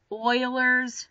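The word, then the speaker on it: Euler: We also have one called the oilers's number. This is actually pronounced oiler.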